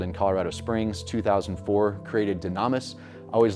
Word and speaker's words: Dunamis: Yeah, it's pronounced dunamis, but I think Dunamis sounds better.